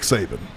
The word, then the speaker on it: Saban: second year, I had 4 with Nick Saban. Rhymes with, Satan, some people would say back then, because he was so intense, man.